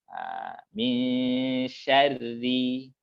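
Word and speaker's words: مِن شَرِّ: Kalau kasroh, hilang sama sekali tafkhimnya, Ustaz. Langsung tarkik ya. Ri, nah gitu ya. Min syarri. Nah, gitu ya. Nah, jadi bacanya begitu, langsung tipis saja.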